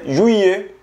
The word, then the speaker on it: juillet: Junio se pronuncia jue y julio se pronuncia juillet. Juillet. El mes más fácil de pronunciar es agosto, porque se pronuncia ut.